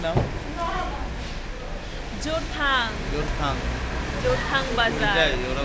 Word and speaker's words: জোরথাং: জোরেটাং। জোরেটাং যে বলনি তাই ভাগ্য ভালো, বলে জোরেটাং। কি নাম? জোরথাং।